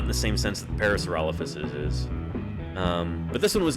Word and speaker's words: Parasaurolophus: And Lenina, I don't know, most paleontologists I've heard pronounce it Parasaurolophus.